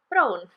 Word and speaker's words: brown: often throws people because the word for brown in Welsh is brown but it's spelled exactly the same as brown so um the sound here is more like oh just a little bit like um the O in home that o sound where